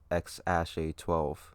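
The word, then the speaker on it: X Æ A-12: to be called and the ae is pronounced ash so it's x ash a12 which is i mean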